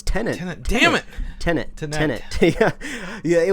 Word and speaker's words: Tenet: know but anyway uh tinette right did i say it right this time right happy this time no no it's tenant damn it tenant yeah